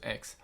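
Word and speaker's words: Aix: heard of it before X is spelled a iix and a lot of people refer to it just as X but my name for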